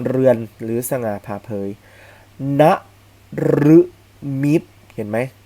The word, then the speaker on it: นฤมิต: ครับ ไป ถึง เรือน หรือ สง่า ผ่า เผย นฤมิต เห็น ไหม รึ ตาม หลัง นอน หนู นะ